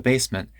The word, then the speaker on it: basement: extra chairs from the basement and took out the garbage basement there's a glottal stop instead of a t basement and took out